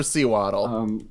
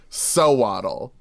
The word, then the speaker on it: Sewaddle: so it's almost undoubtedly SEWADDLE. Oh no, I think it's swaddle, like you swaddle a baby in cloth. Right, yeah, so it's sew and waddle.